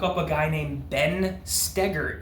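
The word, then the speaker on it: Stoeger: Look up a guy named Ben Stegar. It's pronounced stagger and spelled Stoker.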